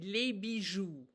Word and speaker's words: les bijoux: And the way you talk about not costume jewelry, but actual gems would be les bijoux. Les bijoux. That's how you pronounce the word for jewels.